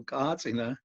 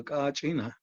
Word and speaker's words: Kachina: The Kachina is pronounced in different ways throughout in Hopi and other pueblos. Some places they call Kachina, and other places they call Kachina. So, but it's the same